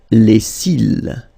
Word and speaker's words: cils: Les cils. Final S not pronounced. Les cils.